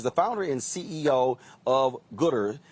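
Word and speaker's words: Goodr: founder and ceo of gooder is it is it gooder g-o-o-d-r is that what's house pronounced right okay so you decided so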